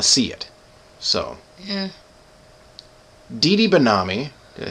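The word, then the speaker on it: Didi Benami: Dee Benami, did I say it right?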